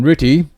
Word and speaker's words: RTTY: first abacus for Christmas you heard me mention ritty it's how we pronounce the abbreviation rtty which means radio teletype